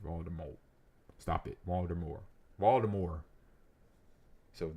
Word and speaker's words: Voldemort: Rling revealed that the the last T in Voldemort is silent. Meaning that we've been saying the word wrong. No, we haven't. I've been saying it right. Although I always say Voldemort.